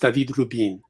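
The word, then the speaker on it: David Rubín: He's from Spain, so it's pronounced David Rubin.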